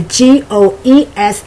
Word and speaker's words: goes: english the pronunciation the g-o-e-s is pronounced goes like g-o-z more like o z if you're doing it phonetically and the d o